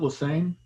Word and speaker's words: Lesney: I pronounce it Lesane.